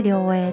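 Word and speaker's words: 涼影: タイトルは両影、涼しい影と書いて両影と読みます。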